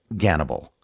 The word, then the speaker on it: Gannibal: The name he chose was Hannibal, or as it's pronounced in Russian, Gannibal.